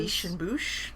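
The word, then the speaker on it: Biches et Bûches: Biche and Bouche. There you go. At least that's how Google says that you should pronounce it, Biche and Bouche.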